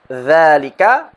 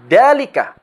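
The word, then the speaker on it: ذلك: Kesalahan yang sering terjadi adalah terkadang orang mengubah bunyi huruf dhal menjadi bunyi huruf dal. Contoh: hadza sering dibaca sebagai hada. Idza sering dibaca sebagai idza. Dzalika sering dibaca sebagai dalika. Selain itu, terkadang ada orang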